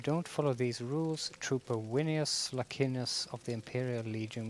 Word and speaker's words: Venus: if that would be pronounced in Latin V is um pronounced like the English W so that will be and C is K so that and that a AE is like a a in Swedish winus Linus that will be is